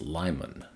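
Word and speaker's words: Limon: A viewer also chimed in with the correct pronunciation of this city in Colorado on Interstate 70 is Lyman.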